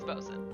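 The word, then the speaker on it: bosun: You actually said Bosen correctly. It is Bosen.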